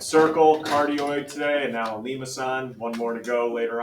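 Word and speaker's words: limaçon: Lima-san. Let that roll off the tongue a couple times.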